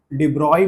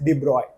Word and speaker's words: de Broglie: डीबोगली hypothesis इसको अपन लोग डिब्रॉय भी बोलते हैं। इनका पूरा नाम लुईस है। लुईस डिब्रॉय। ठीक? सो लुइस डिब्रॉय लिखने के लिए डिब्रोगली लिखते हैं। लेकिन प्रोनाउंस कैसे करते हैं? लुईस डिब्रॉय।